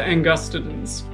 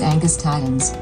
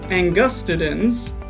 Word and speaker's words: angustidens: stressed for example carcasses angus titans but thanks to linguistics we know that all four systems of latin agree the accented syllable is always the second or the third from last and would you look